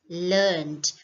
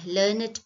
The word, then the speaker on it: learned: to understand is learn when used as a verb the pronunciation is learned we don't add an extra syllable right whereas if we